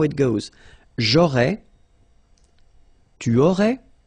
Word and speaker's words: aurais: J'aurais, so final S, not pronounced, j'aurais.